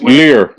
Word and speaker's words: livres: Lear. No, so that's francs. Well, spelled L-I-V-R. Yeah, lear. Okay. You don't pronounce the V.